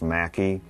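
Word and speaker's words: McKee: Prince Street of the family known as the makii sometimes pronounced Mackey we don't know exactly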